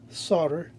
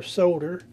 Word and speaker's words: solder: uh 6010 40 lead solder or Soder both pronunciations are accepted in the major dictionaries I think my old